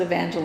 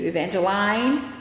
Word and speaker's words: Evangeline: I pronounce it Evangeline. That's not how it's spelled, but that's how I pronounce it. I refuse to answer to Vanjie. I refuse to answer to Evangeline. Or Evangeline.